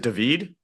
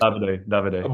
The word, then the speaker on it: Davide: Is it David? Is that how you say it? Davide.